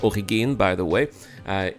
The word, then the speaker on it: Origin: Also, uh Origin, which should be pronounced Origine by the way, uh is of German ancestry just like Kruger as well.